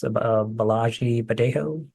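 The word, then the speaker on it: Bolaji Badejo: Balagi Badejo.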